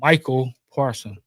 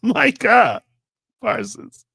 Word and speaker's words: Micah Parsons: Cowboys traded Michael Parson. It's Micah Parsons.